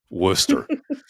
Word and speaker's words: Worcester: It should be like, I don't know what it would Worcester, be. Worcester.